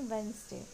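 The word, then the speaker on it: Wednesday: Next is वेडनेसडे, ये भी हम बहुत गलत तरीके से बोलते हैं, इसका सही प्रोनाउंसिएशन वेडनेसडे नहीं है, इसका सही प्रोनाउंसिएशन है वेंसडे, वेंसडे।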